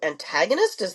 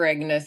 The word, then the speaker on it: agonist: my understanding is that it's a GLP-1 and 2 antagonist. Am I saying that correctly? No, I'm saying it wrong. So a GLP-1 receptor agonist is the classification of drugs.